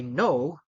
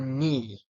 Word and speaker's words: knee: pronunciate it for you I know you knocked my door with your knee so that is the right way to pronunciate it the words of the silent k if you pronounce it like I you knock my door with your KN no that is the wrong way to uh pronunciate the words